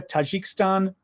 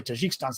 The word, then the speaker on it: Tajikistan: Belarus, Mongolia, Tajikistan. Yeah, I was going to say Tajikistan's not how you say it.